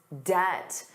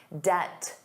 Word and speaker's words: debt: But he has to manage his debt, the total amount of money he owes. And notice that pronunciation. Did you notice the B was silent? Debt.